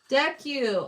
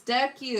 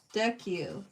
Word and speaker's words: Deku: Oh, it's Deku. Okay. I haven't even been saying it right. See, I don't know anything about this character. Oh, okay. This is him later on the show. Gotcha. Deck you. Deck you. Okay. Thanks for telling me how to say it properly.